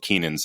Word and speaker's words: Kynan: My name's Keenan. I've been saying that on the podcast, but if you look up, in the description, it's Kynan, which is hard to pronounce.